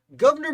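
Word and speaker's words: Gouverneur: you know why his name is this highlight governor morris i don't know if it's pronounced governor or governor i people say it's pronounced governor it looks like governor this guy's a lot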